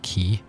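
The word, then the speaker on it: quay: raincoat stands on the key is that how you say that right q-u-a-y is actually pronounced key considering an overturned boat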